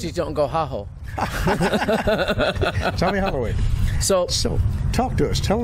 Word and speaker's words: Holloway: Holloway. Hey, at least I had the first syllable right.